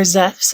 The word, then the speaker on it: Zeus: of hermes together with zeus or zephs if you like the modern greek pronunciation and then this one